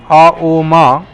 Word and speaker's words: Om: Om is like this Om word itself is Auma, made of 3 different syllables, is like for the Lord.